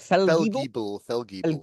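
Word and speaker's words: Fellgiebel: I do have a slight issue with Eddie Izzard as General Eric how do you pronounce it? Feldgiebel.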